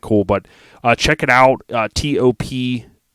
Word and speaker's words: Topkapi: Topkapi, Top Copy is how you say it according to Google.